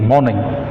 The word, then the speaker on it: mourning: MOURNING मॉर्निंग, MORNING मॉर्निंग, सुबह. These are one short of homonyms, so you can say the pronunciation is almost same, but the spelling is different.